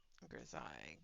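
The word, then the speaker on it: grisaille: I keep on going back and forth on how it's pronounced. I'm pretty sure that when they were visiting in stream one day when I was using them, they said it was Grisail.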